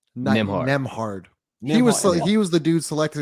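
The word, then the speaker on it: Nembhard: Nemhard.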